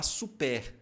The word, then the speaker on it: super: Lembrando que aqui, ó, o biquinho, então você não pode falar super. Está errado. Super, super. É só pronunciar a vogal I e fazer o biquinho.